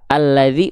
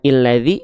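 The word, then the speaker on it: الذي: Nah, jadi pokoknya kalau ada hamzah wasol, setelahnya adalah huruf lam, maka itu namanya adalah dia dibaca dengan vokal A. Alladzi bukan illadzi, bukan ulladzi.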